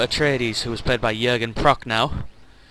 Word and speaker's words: Jürgen Prochnow: who was played by Jürgen Prochnow, if that's how you say his name correctly, in the film.